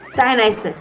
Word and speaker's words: Dionysus: Dionysus, thank you. You I can always put have the that. emphasis on whatever syllable you want.